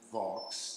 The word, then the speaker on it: Vaux: And in 1860, Flo and Vaux, that is how his name is pronounced, right, came and did a